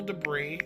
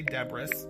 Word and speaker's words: debris: as like some emotional debris and I like saying words wrong on purpose so like with my friends I don't say debris I say Deborah's I know that's not how you say it but it's funny